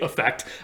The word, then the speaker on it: affect: Of course, I'm pronouncing it affect just to show you the difference, but we usually say it effect, and so it's said the same way as the one with an E in English, usually, certainly in my dialect of English.